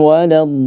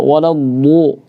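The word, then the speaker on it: ولا الضالين: Tidak sampai bonyong ya Ustaz ya. Tidak waladdu.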